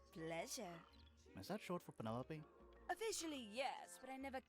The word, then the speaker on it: Penelope: is that short for penelope officially yes but i never can use it four syllables penelope sounds a little ostentatious coming out of the mouth don't you think